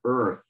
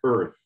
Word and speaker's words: earth: it's Earth and so it's a strange one Earth like yeah almost as if there was no a the erf Earth so and the other